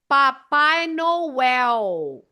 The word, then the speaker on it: Papai Noel: So in Brazil, the L at the end is not pronounced as an L as we do here. They pronounce the last L as a U, U sound. So Noel is U, Papai Noel.